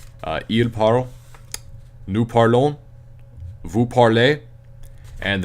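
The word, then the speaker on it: ils parlent: Il parle. It's still pronounced il parle even though it ends with an ENT. You do not pronounce the ENT, it's just il parle.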